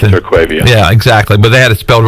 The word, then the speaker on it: Terquavion: He's been there, but it's Terquavion, obviously, T. Smith. No, it's Terquavion.